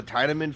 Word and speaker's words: Tiedemann: Is it Tiedemann or Tiedemann? Because of course the pronunciation it Tiedemann. looks like in the English dub, it's pronounced Tiedemann. In the English dub, I don't know if it's pronounced the same way in the German-speaking version. Tiedemann. Yeah, German is definitely Tiedemann.